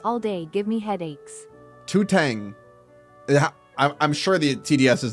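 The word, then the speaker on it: 头疼: It's pronounced Totong? Ooh. Totong. Headache.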